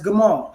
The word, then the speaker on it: Gamal: And phonetically, that's Gamal. So that's what we have. So Gamal is spelled Gamal, Meme, Lamad, all three Hebrew characters. And this gives us the sound of G, right? G as in goat, right?